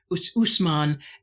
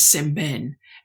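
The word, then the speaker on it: Ousmane Sembène: the right order but I believe the first name Usman and the surname is Seben and he is a Sangal film director as well as novelist.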